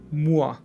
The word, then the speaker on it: moi: The combination OI is pronounced wa in French. Wa. For example, moi, toi, or bois.